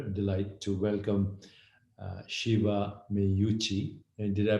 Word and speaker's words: Meucci: my great pleasure delight to welcome uh shiva me yuchi and did i pronounce your name correctly shiva excellent i've heard